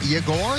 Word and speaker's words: Yegor: Yes, and the Y is silent. It is Yegor, not Yegor.